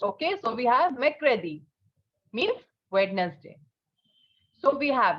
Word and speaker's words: mercredi: Although an R is placed, but pronunciation will not be pronounced. Okay, so we have Mercredi, means Wednesday.